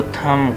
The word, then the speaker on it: thumb: और टो आपको पता है कि कहते हैं फुट के हमारे अंगूठे को, हाथ के अंगूठे को थम कहेंगे, THUMB, थम। बी साइलेंट के साथ बोलेंगे, रिमेंबर, थम।